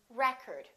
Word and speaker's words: record: this word pronounced record it depends on if it's a noun or a verb i would like to get the new record record first syllable he broke the world record but i would like to record that movie i would like to record my voice if it's a verb we get the second syllable if it's a noun we get the first syllable how about this one